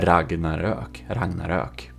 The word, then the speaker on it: Ragnarök: Swedish one, who has the proper pronunciation of the name of this ship, because the original builder, Robas of the Ragnarök, he is Swedish, and it's called the Ragnarök. Okay, if you want some pronunciation. There you know. And the O with 2 dots, that's an Ö. It's not an O with 2 dots.